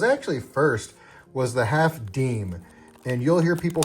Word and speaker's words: disme: What was actually first was the half deem. And you'll hear people call it the half Disney because it's what it looks like it should be pronounced.